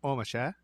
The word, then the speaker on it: Ormesher: probably pronounced omasha oh misha yeah had